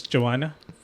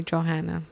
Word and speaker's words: Johanna: Like Well, it's cuz the H is silent in Spanish. That's true. That's why they're they call me Johanna. But yeah, I always let them know that it's Joanna.